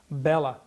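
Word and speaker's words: Béla: It's the Hungarian language. They always accent the first syllable. Bella, Bartok, Zoltan, Kodali.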